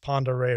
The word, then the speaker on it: Pend Oreille: That's pronounced Pend Oreille River.